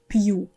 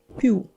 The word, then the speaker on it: пью: Like this this word пью without soft sign, it sounds like пю.